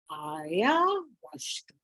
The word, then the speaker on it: ayahuasca: And so this drug is called ayahuasca. Aya, H has to be pronounced like a W. So ayahuasca, the wine of the soul.